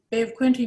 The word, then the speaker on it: Bay of Quinte: Shelley, so if you could begin first by just correcting me, can you pronounce that name correctly? Bay of Quinte Mohawk, is that what you're asking about?